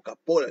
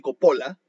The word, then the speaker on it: Coppola: Giuseppe Coppola, o Capola le dicen otros, pero se escribe con O, Giuseppe Coppola, fue el chef que